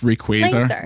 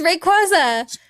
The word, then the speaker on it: Rayquaza: It's it's Rayquaza. Yeah, it's meant to be. It's meant to rhyme with laser.